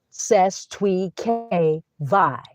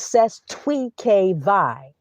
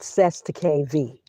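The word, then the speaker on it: Cestui Que Vie: That's how you pronounce ces twe k vi. It's not ces the k. It's ces twe k vi. Trust. That's what it is. It's French. Ces Twe K VI, not CES to KV.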